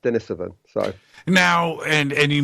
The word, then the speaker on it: Denisovan: okay I mean it's it's pretty it's definitely pronounced Dennis of it so now and and you mentioned you know